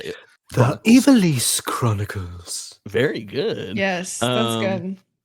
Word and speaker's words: Ivalice: The Ivalice Chronicles.